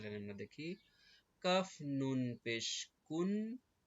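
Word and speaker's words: كُنْ: আমরা প্রথম লাইন দেখি কাফে পেশ নুনে জজম একসাথে উচ্চারণ কুন এই কাফ আর নুন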